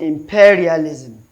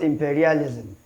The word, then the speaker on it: imperialism: So we also have a noun ending in zim, most of which are stressed on the third syllable from the end. So I'm looking at it, we have 1, 2, 3. So imperial. So it should be pronounced imperialism, not imperialism. Imperialism.